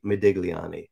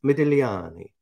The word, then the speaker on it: Modigliani: interested to know that the g is silent and so it's not as easy to say as medigliani right and it's very tempting to say medigliani but it's medelliani already so that's how